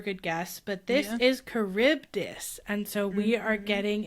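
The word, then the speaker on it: Charybdis: And I um kuribdus is how it was pronounced.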